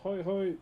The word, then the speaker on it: hae: As you can see, the design we did is hai pakati.